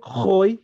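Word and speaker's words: Khoy: Este Hoy se escribe con Ja. Entonces cuando uno ve la K con la H en un texto árabe lo pronuncia como Ja.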